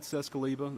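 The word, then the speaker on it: Czeskleba: and Pam Bearfield Training Center I'm captain cescaliba that's spelled k-e-i-t-h-c-z-e-s-k-l-e-b-a with the Hoover Police Department joining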